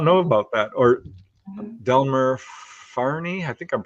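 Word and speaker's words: Delmer Fahrney: Or Delmer Farney, I think I'm pronouncing that right.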